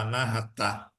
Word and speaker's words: Anahata: sânscrito ele vai chamar-se Anahata, né? O indiano vai pronunciar Anahata, vai acentuar o A.